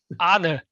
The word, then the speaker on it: Arne: Is it Arnie or Arn? Arne. Arna. Yeah. In my head, it's Arn, but that's because I speak English. So I just tend not to pronounce letters.